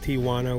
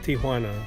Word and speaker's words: Tijuana: pronounced it's not pronounced Tijuana with a W or Tijuana like a lot of people say it's pronounced Tijuana that J is pronounced like an H so you say Tijuana